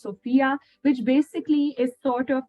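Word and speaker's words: SFIA: a Sophia scale assessment it's written as a skills framework for the information age but it is pronounced Sophia which basically is sort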